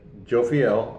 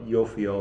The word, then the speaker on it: Jophiel: day apparently she goes by the name of Joe feel or you'll feel if you want to be correct right I'm